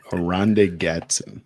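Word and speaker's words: Oronde Gadsden: And then um yeah, for for the tight end for the Chargers, it's hard to pronounce his name. Aronda Gatson. There you go. Ronda Gatson.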